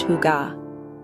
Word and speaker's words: hygge: We call it higa, pronounced huga.